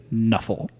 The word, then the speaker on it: Nuffle: Which you say Nuffle.